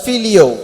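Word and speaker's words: φιλέω: He is using another word in English, it's pronounced as filio.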